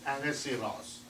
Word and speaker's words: Ahasuerus: You may read many different names, but this is the real pronunciation, King Ahasuerus.